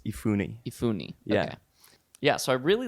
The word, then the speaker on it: Efuni: do you say your last name so it's ifune ifune yeah so i really looked and i'm